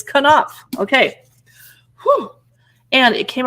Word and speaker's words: Knopf: It's by Knopf, and I looked up the pronunciation of this publishing house because I was like, is it Knopf? It's Knopf.